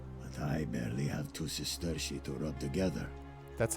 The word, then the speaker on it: sesterci: But I barely have two sesterci to rub together. That's how you pronounce it, Sesterci.